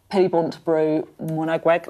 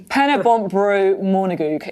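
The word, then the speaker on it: Pen-y-bont a Bro Morgannwg: Pennybontbro Monagweg is the correct pronunciation of that.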